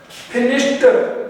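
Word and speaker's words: finished: वाला, उस रूल में जब ईडी लगता है लास्ट में तो उसका प्रोनाउंसिएशन ट बन जाता है, उच्चारण नॉट द, ट बन जाता है। सो we will say past not passed, फिनिश्ड नॉट फिनिश्ड। ध्यान रखेंगे आगे से, पास्ट फिनिश्ड ट होता है, ड नहीं होता है, इसका आगे से ध्यान रखेंगे।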